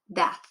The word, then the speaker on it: death: Birth and death. They both have this TH sound at the end.